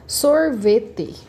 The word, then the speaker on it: sorvete: Sorvete. Sorvete. Minha sílaba mais forte é o sor, então é uma proparoxítona.